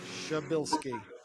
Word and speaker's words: Szubielski: Szubielski.